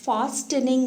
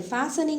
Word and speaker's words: fastening: अच्छा जनाब, तो ये FASTEN जो है यहाँ पे टी साइलेंट होता है, ये फास्टनिंग नहीं होता बल्कि फैसनिंग होता है.